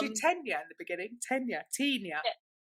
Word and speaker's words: Tenya: Well, I created created a new Tina. It's okay. Don't worry. I'm Tina. I SEE. I GOT YOUR NAME WRONG. I'm so sorry. Tenia.